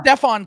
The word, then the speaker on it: Stephon: in trading up for Stephen castle by the way no no okay it's Stefan castle by the way read it it's right there Stefan I'm the dyslexic one